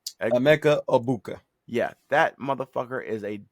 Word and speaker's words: Egbuka: Mbuka? Emeka Egbuka.